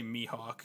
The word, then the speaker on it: Mihawk: He wants me to say Mihawk because that's how you pronounce it.